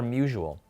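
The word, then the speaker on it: Musial: Musiel or Musual? I believe it's Musil. That's actually how it's pronounced, but everybody says Musual.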